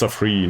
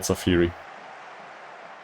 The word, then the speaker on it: Safri: It's Safri, not Safiri. It's Safri.